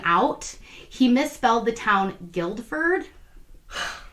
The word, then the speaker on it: Guildford: he misspelled the town guildford the correct spelling is g-u-i-l-d-f-o-r-d right like a guild he forgot the d oh my god you would think you would spell it without the u or something no no